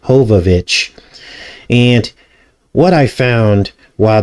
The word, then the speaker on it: Jovovich: Now, the film stars Mila Jovovich, or I think it's pronounced Hovovich, and what I found while decoding this box office failure was very disturbing.